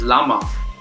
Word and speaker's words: Rama: muffle a dialectic tapes the pronunciation of the word Rama as Lama hence the folk version